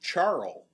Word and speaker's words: Charl: It's actually pronounced Charl, we understand. Like the Charo? the Coochie Coochie singer from the 60s.